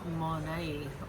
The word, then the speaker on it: Monat: So Monat would probably be the most accurate, but you can say it however you like, as long as you use it.